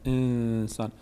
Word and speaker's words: انسان: شما که روی کلمه تلفظ کلمه انسان روی نون حرکت نکنه انسان اگر می‌خواید از طریق